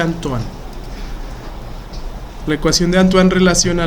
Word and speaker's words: Antoine: Bueno, se escribe así, pero como este fue un autor francés, se pronuncia Antoine.